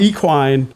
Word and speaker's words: equine: Equine. Equine. The equine experience was cool. I'm going to just like hard pronounce the E now. I'm going to hard pronounce it.